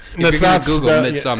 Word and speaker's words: Midsommar: If it's you're going to Google Midsommar. It's spelled S-O-M-M-A-R, I believe. Sommer. Midsommar.